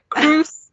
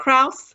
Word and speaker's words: Crousse: He also told me that I pronounced your name wrong, and it's Crousse and not Crousse.